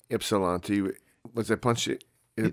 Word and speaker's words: Ypsilanti: So I was like, I wonder if that Y is silent or but yeah. Ypsilanti. Yeah. That's how we say it. Ypsilanti.